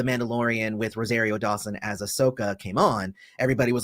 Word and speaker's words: Ahsoka: republic and asuka so that was orsoka i'm trying to say it like it's japanese but it's it's star wars so it's ahsoka sorry about that um